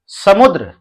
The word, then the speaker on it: समुद्र: ये लिखा है समुद्र, तो स मुंह आधा द और र। द में आप जानते हैं पदेन की मात्रा है, इसका मतलब पदेन की मात्रा का जो उच्चारण है वो पूरा र होता है, और जिस व्यंजन वर्ण में पदेन की मात्रा लगती है वो व्यंजन वर्ण आधा रहता है।